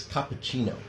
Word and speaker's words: cappuccino: There is a rule in Italian, if you have a C that's followed by an I or an E, it's pronounced like a CH in English.